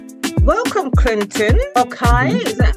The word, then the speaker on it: Okhai: Clinton Okhai. Is that how you pronounce your surname? But it's actually Okhai because I'm from Edo State in Nigeria, and so in my language, K is silent.